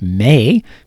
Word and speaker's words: me: the scale we get may remembering that in minor keys the third note is may and not me it is spelled em e but we pronounce it May and then you can